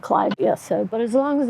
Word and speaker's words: Clivia: And sometimes it's pronounced Clivia. The genera was named after a botanist named, his last name was Clyde. So I just call it Clivia.